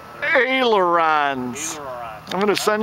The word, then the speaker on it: ailerons: It's probably the airlines. Ailerons. Ailerons. I'm going to send you the video link for the pronunciation on that.